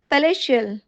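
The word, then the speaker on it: palatial: असंतोष जनक या granite पैलेश इसे पहले टियल नहीं पहले शल प्रोनाउंस करेंगे जिसका मीनिंग होता है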